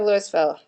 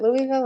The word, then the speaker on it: Louisville: Give me a city that's outside of Louisville. Is it Louisville or Louisville?